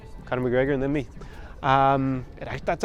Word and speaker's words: Conor: It's Conor McGregor and then me. That's actually something that helps me a lot here, because now people actually can pronounce my name thanks to Conor McGregor.